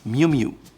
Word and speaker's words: Miu Miu: It's Miu Miu. Miu Miu.